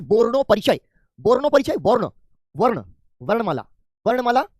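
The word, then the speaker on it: বর্ণপরিচয়: ठीक है, ये बांग्ला में जब आप आते हैं तो प्रोनाउंसिएशन में हल्का सा आप जो है ओठों को गोल घुमा करके बोलना सीख जाते हैं।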